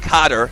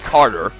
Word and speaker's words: Cotter: But he pronounced his name Cotter and not Carter.